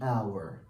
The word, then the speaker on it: hour: I will see you in an hour. An hour. Why? This word begins with consonant, yes, letter, with an O sound, okay? An O sound. And of course, the H here is silent.